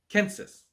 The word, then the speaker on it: census: decided using census data the word census comes to us from Latin basically unchanged except for the pronunciation - a Roman it would have been a Kansas as scholarly research suggests that there were no soft consonants in the line of the ancient Romans so a C would